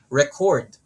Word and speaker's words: record: Just by adding stress in the first syllable, it becomes a noun. If we add stress on the second syllable, record, it becomes a verb.